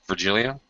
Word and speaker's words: Virgilio: I'm pronouncing your name correctly, Virgilio? Yeah, it's correct.